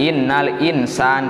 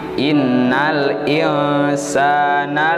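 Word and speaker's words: إن الإنسان: Jangan innal insan, tapi innal insana lafi khusrin. Tapi kalau diberhentikan, diwakafkan itu khusr ya.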